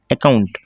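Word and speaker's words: account: অ্যাকাউন্ট উচ্চারণ কি হয়েছে অ্যাকাউন্ট, ঠিক আছে। এই অ্যাকাউন্ট উচ্চারণটা আমরা সিলেবালভাবে ভেঙে নিয়েছি এবং উচ্চারণটা এভাবেই করতে হবে।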